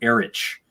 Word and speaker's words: Erich: because, this one specifically, the guy's name was Eric, but it was spelled with a CH at the end. So they called him Erich.